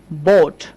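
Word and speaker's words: boat: খেয়াল করেন এটা আমরা উচ্চারণ করব বোট।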